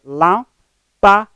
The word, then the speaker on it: lâmpada: Vamos ter lâmpada, dá 3 sílabas. Nessas 3 sílabas, a penúltima neste caso, a penúltima forma tônica é lá.